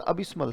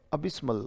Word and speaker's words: abysmal: अगला word अबिस्मल है, अबिस्मल, फिर से बोले, अबिस्मल। स्पेलिंग कैसे याद होगी? अबी और स और मल, वर्ड बन गया अबिस्मल। उच्चारण है अबिस, अबी और स कैसे बोलेगा? स और मल, वर्ड बन गया अबिस्मल, अबिस्मल, राइट।